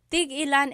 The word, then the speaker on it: tig-ilan: Tig-ilan is a homonym, meaning it can have different translations depending on how it's pronounced. So tig-ilan, when there's a hyphen in it, you have to have that glottal stop.